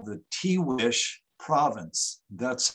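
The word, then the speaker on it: Tiguex: uh in a place that they call the t wish province that's how this is pronounced tea wish and the tiwi province for those of you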